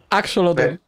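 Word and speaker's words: axolotl: buena pronunciación del juego la pronunciación correcta en teoría es axol axolot pero yo digo el la acolote la acolote nos quedamos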